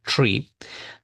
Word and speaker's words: three: Para la th ponemos la punta de lengua detrás de los dientes inferiores.